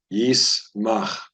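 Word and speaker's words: יִשְׂמַח: This would be a silent shva. It's pronounced yismach.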